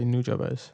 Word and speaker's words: Nujabes: say Nujabes.